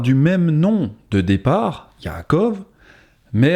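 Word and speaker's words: יעקב: En hébreu, son nom se dit Yaakov.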